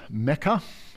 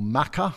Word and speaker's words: Mecca: born in a town called Mecca or Maka depending on how you pronounce it a lot of the